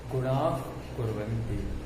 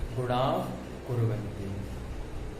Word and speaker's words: गुणाः कुर्वन्ति: का लिखा हुआ है, तो जो विसर्ग के बाद का खा लिखा होता है तो उसका उच्चारण इस तरीके से करते हैं, गुणाः कुर्वन्ति, गुणाः कुर्वन्ति।